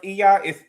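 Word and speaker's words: Oia: I think that's how it's pronounced, Iya. It's spelled O-I-A, okay?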